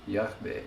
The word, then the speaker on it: Yahweh: When where is the stress again? First syllable. Yahweh.